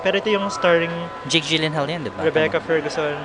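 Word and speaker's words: Gyllenhaal: ito yung starring Jake Gilen Hall yan ba Rebecca Ferguson Jake Elen Hall yun daw yun e propen Hall Swedish kasi yun eh parang yun daw yung proper pronunciation ng an oo ganun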